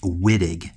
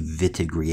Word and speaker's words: Wittig: the vidiq reaction now I know in English vidiq seems like a be pronounced Wittig but the fact is it's a German scientist to develop this chemistry so we're going to call this the vit agree action I don't want